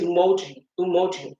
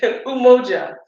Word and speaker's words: Umoja: But today is Umoji, if I say it right, Umoja.